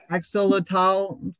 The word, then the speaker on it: axolotl: Exotal is how it's spelled, but. Axolotl, yeah, this morning.